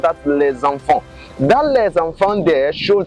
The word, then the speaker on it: les enfants: Now pay attention to the way I pronounce that les enfants. That les enfants there shows that there is a liaison between the les and the enfant.